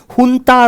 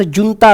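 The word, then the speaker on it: junta: बाय द वे उसका correct pronunciation है हुंता rule. That is not pronounced as जुंता rule, that is हुंता rule.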